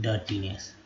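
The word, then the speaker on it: dirtiness: उसके देखिए, गंदगी, डर्टीनेस, तो यहाँ पर आई जो है ये भी अ के रूप में उच्चारण किया गया, तो डर्टीनेस।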